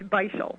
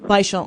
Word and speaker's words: Beischel: And it's Beischel. Beischel.